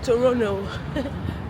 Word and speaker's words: Toronto: Yeah, and this is me in my fine African print strolling on the streets of Toronto like the T is silent.